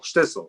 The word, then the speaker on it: Shtisel: Is it shtisel or Shtisel? Shtisel. Shtisel, sorry. It rhymes with bissel.